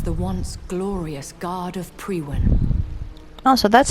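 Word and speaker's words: Priwen: lightly it was the once glorious guard of pre-win also that's how you pronounce it once glorious but still dangerous they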